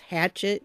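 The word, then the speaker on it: Hachette: have to pardon me it may be pronounced hatchet in the United States I don't know but it's a French company and it's pronounced a shet over there so yeah that's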